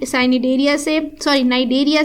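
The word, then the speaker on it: Cnidaria: ये बिलोंग करता है साइ साइनियर नाइ देरिया से क्योंकि सी साइलेंट होता है और ये वर्म यानी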